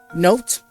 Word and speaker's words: note: Note, because there is an E in there, because it would have been said note.